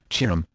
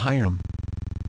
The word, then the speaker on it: Chiram: Chiram, not Hiram.